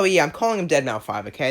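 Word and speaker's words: Deadmau5: Oh, by the way, yeah, I'm calling him Deadmau 5, okay? I know it's technically pronounced Dead Mouse, but it's a 5, okay? It's Deadmau 5, okay? That's how it's spelt. I'm going to say it like it.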